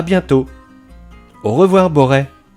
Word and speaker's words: Borest: de la chaîne et si ce village se prononce bien Boré il est indéniable que